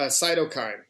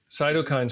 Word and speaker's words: cytokine: storm yeah cyto storm how how do you pronounce it uh cytokine cokine cytokine storm where all I know and you can